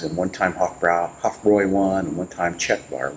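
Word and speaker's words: Hofbräu: It didn't taste like this when it was up against Hoffra or I should say Hoffroy for the German pronunciation.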